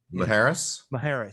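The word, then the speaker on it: Isla Mujeres: Maharis. Thank you. Is that it? I think that's the J is an H, right? Yeah. Like Jose or jalapeno.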